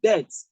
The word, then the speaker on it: debt: to pronounce this and this is debt debt not debt debt what you have here